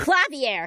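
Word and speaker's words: Klavier: rival is clavier Gavin he's a district prosecutor clavier clavier I okay good I can get the pronunciation of this one right away clavier I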